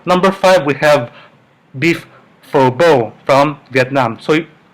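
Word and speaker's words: phở bò: This is from Vietnam, and like they say, this is they pronounce as pho bo, not pho bo, not phu bu, but pho bo, because they have a certain accent from the Vietnamese language.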